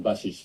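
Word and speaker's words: Bašić: Yeah, so when people see that name, Bashic, of course it's spelled basic, so people just see Basic. They think I'm just an English one, let's say.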